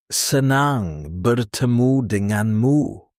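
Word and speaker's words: senang bertemu denganmu: You say senang bertemu dengan mu, pronounced se-nah-ng ber- teh-mu deh-ngahn mu.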